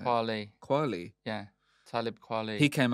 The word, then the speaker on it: Kweli: Kweli.